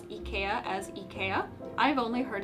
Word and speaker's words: IKEA: sweden were like wow japanese people pronounce it almost the way that it's supposed to be pronounced americans pronounce it ikea which is not accurate